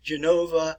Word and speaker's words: Genova: And I will pronounce these in Italian for you. Venetia, which is in the north and the eastern parts of the Italian peninsula. Genova, Milano, Bologna, Palermo, which